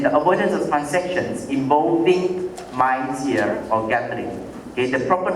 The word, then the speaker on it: maisir: gharar, and then the avoidance of transactions involving maisir or gambling.